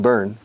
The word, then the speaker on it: Bern: the capital of Switzerland Berna yes in English Bernie pronunciation burn yes when when were